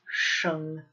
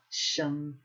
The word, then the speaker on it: 生: So, 先生, 先生, and it's sheng, not sheng, sheng, 先生, 先生.